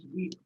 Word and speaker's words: huit: Pronounced as wheat.